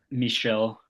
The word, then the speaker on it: Michel: Michelle. Michelle. My bad. Right. It's M I C H E L, right? I assume you're right. Um, he's he's got Andy Warhol, Michelle Buskiot, cause that Japanese I think artist who